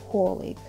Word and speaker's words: colleague: Ударение, яғни екпін оға түсуде colleague.